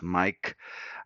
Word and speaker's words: Maic: That's how my name is spelled, MAIC, and sounds as Mike.